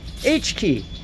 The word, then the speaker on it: H.Ki: world's shortest domain three characters H dot Ki H key as I pronounce it and that's heartbeat and that's our